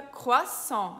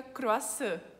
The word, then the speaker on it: croissant: E no final tem um T, e esse T é mudo. Então fica croissant, não fica croissant.